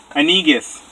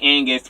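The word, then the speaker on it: Anegus: Why can't anybody pronounce the E? How are you this evening? Hey, can you by any chance do me a favor and put on my account, pronounce the E in my name? Because I'm honestly getting sick and tired of people calling me Angus when there's an E, A-N-E-G-U-S.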